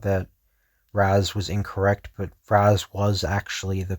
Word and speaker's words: Ra's al Ghul: They thought that Raz was incorrect, but Raz was actually the correct pronunciation.